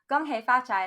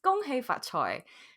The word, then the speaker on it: 恭喜發財: As a teenager and an absolute fucking brat, I used to say, Gong hei fa cai, lai xi dou lai, which translates to, congratulations, be prosperous, now give me the money.